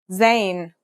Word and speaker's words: Zain: In terms of pronunciation, you say it just like the English Z, as in zebra, or Al Jazeera.